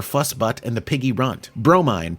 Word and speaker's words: Bromine: and the Piggy Runt, Bromine, pronounced Bro, Mine, Cat, Mother of Pearl,